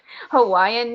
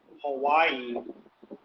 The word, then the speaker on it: Hawaii: let you know also hawaii um it means see the locals here pronounce the w with a v so it's with a v sound huh okay and the